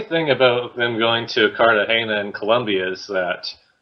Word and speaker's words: Cartagena: The funny thing about them going to Cartagena in Colombia is that people online are making fun of the contestants for pronouncing it as Cartagena. It's like, don't you know that that's not how it's pronounced?